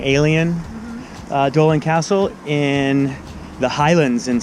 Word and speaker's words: Eilean Donan: Here at the Eilean Donan Castle. I pronounced it wrong. Eilean Donan Castle in the Highlands in Scotland, and we're on our way to Stornoway.